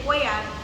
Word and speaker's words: Foya: If I want them to say foya, I would have to come and tell them I this is how you say my name.